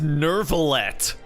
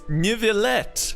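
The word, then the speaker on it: Neuvillette: It's Nivelet. Nivelet. Like, at the very least, if you're gonna give it a bastardized American pronunciation, at least, you know, say it the way it's like spelled. Nivelet, not Nervalet.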